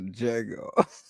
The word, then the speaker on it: Django: Shout out to Django. Yeah, that's a good movie. With man. the silent D is silent.